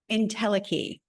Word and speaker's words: entelechy: I still probably pronounce it. Entelechy. What is it again? Entelechy. Entelechy, right? Okay, entelechy.